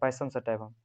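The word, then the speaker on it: Pisum sativum: पाइसम सटाइवम। इसका spelling लिख देते PISUM, ठीक है, हटा के सटाइवम SATIVUM, ठीक है, VUM।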